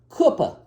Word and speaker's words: Cooper: Cooper River which is spelled Cooper but they pronounce it Koopa Kupa River it's too